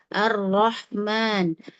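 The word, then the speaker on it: الرحمن: Syekh Aiman ee Aswait pengucapan huruf ro kadang-kadang disamakan dengan huruf gin arrahman ya tidak arro Arahman tinggal cukup dinaikkan lidah bagian belakang ya.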